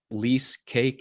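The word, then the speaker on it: Leasecake: least management made easy lease cake i mean i love wordplay rhymes with cheesecake it's a piece of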